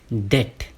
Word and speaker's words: debt: इसकी सही प्रोनाउंसिएशन होती है डेट। यस, डेट। यहाँ पे बी साइलेंट होता है।